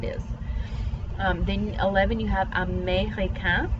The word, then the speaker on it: américain: Then 11, you have américain. This E with this accent mark is a long A sound.